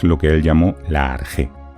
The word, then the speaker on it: arjé: que él llamó la arjé. Arjé se escribe normalmente con RKH, aunque a veces también se puede encontrar escrito como suena, arjé con J.